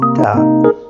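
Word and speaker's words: ت: This letter is ta. Repeat after me. Ta, like in tea.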